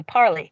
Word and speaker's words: Parler: That word has been so ingrained in my mind that when I see it, I say parley because that's how it's pronounced.